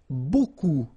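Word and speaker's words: beaucoup: strange B like that remember you don't pronounce the final P okay and then you get this combination of vowels a u and you get the sound o so technically it's B okay so it's not difficult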